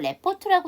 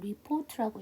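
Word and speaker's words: report: 그러면 컨퍼런트 이렇게 되겠죠 이걸 레포트라고 읽는 분 계신데 레포트는 없고요 리포트라고 읽어 주셔야 돼요 다 끝났어요 한 문장이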